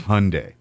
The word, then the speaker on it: Hyundai: in America can't get Hyundai right I still hear people butcher that one it's Hyundai that's I literally cut a